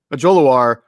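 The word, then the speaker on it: Ojulari: Mike's a dialed-in guy, so that tells you that Azeez, and you did a better job pronouncing the last Ojolari. Is that Ojolari? Ojolari is.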